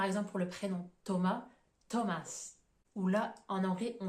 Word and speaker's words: Thomas: le cas par exemple pour le prénom Thomas Thomas ou là en anglais on va prononcer avec le son t entre parenthèses vous